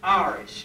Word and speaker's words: Horace: had a child named Horace, but when the Cockney pronunciation came out, it was Aris, because they did not pronounce the H in Horace.